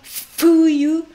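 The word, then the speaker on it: 冬: Fuyu, fuyu, deux syllabes aussi, fuyu. Donc vous m'entendez dire, je ne dis pas un franchement fuyu, je ne dis pas non plus fuyu, mais je dis entre F et H, fuyu, voilà.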